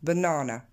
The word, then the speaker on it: banana: en blanc, banana, donc je vous avais souligné l'accent tonique qui tombe sur du coup la deuxième syllabe, mais je vous ai aussi rajouté le petit tiret devant, la petite apostrophe devant, banana.